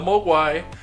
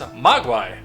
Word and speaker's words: Mogwai: And as you will see when we turn around, I know the Mogwai.